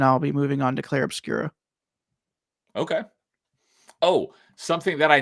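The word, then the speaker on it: Clair Obscur: It is French, so. It's Claire Obscura sounds more correct too, but yeah, there's no A at the end. It's just Claire Obscura.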